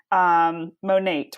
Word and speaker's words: Monat: first time you posted about Monate, right? That's how you say it?